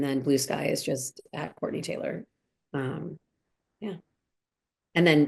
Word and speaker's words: Courtenay: And my name is spelled C O R T E N A Y. Court Taylor. Um so, Courtney Taylor LA. And then Blue Sky is just Courtney Taylor.